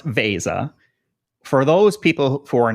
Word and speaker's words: Veza: let's get the word out there right it's pronounced Vasa for those people who are not familiar with what Vasa does what's the elevator pitch 30 let's say